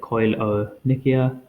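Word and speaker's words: koilonychia: Nikia or Nikas um and that's how you pronounce it coil o Nikia and this is due to iron def deficiency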